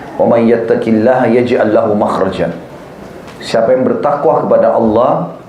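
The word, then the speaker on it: مخرج: Bahasa Arabnya itu mim, kha, ra, jim. Bacanya makhraj.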